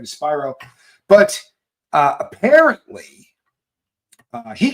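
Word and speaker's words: Spiro: attorney um Spyro and I say Spyro because I understand that it is pronounced Spyro I'm not being my usual wise Alex cell but there's a lot of people that that refer to this person as Shiro and it makes it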